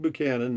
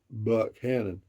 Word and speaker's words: Buchanan: anyway Ken PA Lake Buchanan named after James Paul Buchanan Texas State representative I believe it is pronounced with you sound versus Buck Cannon uh I don't know